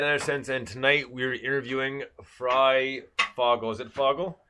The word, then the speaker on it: FryFogle: Yes, my name is FryFogle. The doctor was having some problems, like most people do, pronouncing it.